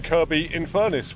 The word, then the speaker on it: Kirkby-in-Furness: I am getting dropped off a couple of miles down the road here in Kirkby-in-Furness with a silent K.